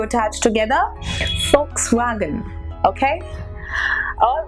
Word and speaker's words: Volkswagen: it is not works wagon it is actually Fox wagon so now you must be punished oh my